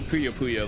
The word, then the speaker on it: Puyo Puyo: So definitely Puyo Puyo though. Yeah, it's literally how it's pronounced.